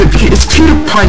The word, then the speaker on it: PewDiePie: Peter, how do you pronounce his name? It's PewDiePie, you idiot.